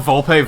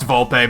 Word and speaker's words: Volpe: pronounce it like huh remember when I called Volpe volp because I didn't know any better can you imagine if I was like well I know it's pronounced Volpe but I'm gonna choose